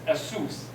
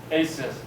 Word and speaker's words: ASUS: phone so asus right sometimes people produ uh pronounced as asus very outwardly right aces much better so aces they have